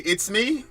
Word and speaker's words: Izthmi: How do you pronounce it, by the way? Izthmi? As in, like, it's me, Mario.